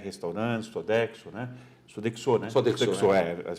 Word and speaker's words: Sodexo: Sodexo, as pronúncias é essa.